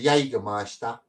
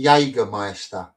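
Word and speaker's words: Jägermeister: Notice how there's no S used to spell it. I didn't I didn't know. Ah, you're right. See, that's just a Cockney thing. We call it Jagger Meister. It's not even how you say it, is it?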